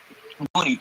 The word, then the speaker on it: Dooney: It's Donnie, right? Dooney, you said it wrong. Dooney. Yeah. Man, just think about Looney Tunes.